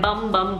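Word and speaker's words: Bum Bum: इसका नाम है बम बम बॉडी स्क्रब.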